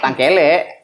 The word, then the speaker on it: Tangkelek: Cara bacanya gimana sebenarnya? Tangkelek.